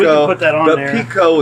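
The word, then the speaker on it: Picot: put that on the Pico is spelled like it's a French word and it's because he's a guy from France and it's like peacock so it's like p-i-t-o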